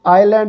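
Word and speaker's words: island: तो आइलैंड और आइल ये दोनों ऐसे हैं जिसमें एस नहीं बोला जाता, साइलेंट है।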